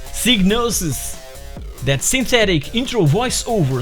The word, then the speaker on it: Psygnosis: that and i quote i can guarantee it's pronounced psygnosis that synthetic intro voice over saying diagnosis presents was actually wrong this new video is